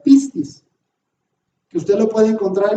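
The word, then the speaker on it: πίστις: pongo en griego y entre paréntesis Cómo se pronuncia pistis que usted lo puede encontrar en el diccionario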